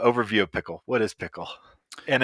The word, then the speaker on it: Pkl: What is Pickle? And it's spelled PKL, I should point out, which should be in the title, but pronounced Pickle, but PKL.